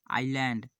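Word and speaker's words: island: करें pronounce ation correct in शब्द का सही उच्चारण करें इसका क्या होगा thought psychology आईलैंड आईलैंड honest इसका क्या हो जाएगा इसका हो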